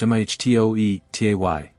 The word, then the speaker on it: metote: Your whole mind is a fog which the Toltecs called a metote, pronounced mhtoetay.